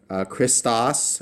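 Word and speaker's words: Χριστός: And that CHR is one sound. We pronounce it together. We don't break it up into smaller syllables.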